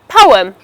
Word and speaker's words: poem: It is pronounced as poem and not poem. As you can see, this word has got two syllables, po and where the stress is placed on the first syllable.